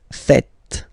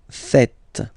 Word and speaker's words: faites: Okay, but then no, it's vous faites, vous faites. Okay, so remember, final S here is not pronounced, and then this is not pronounced either.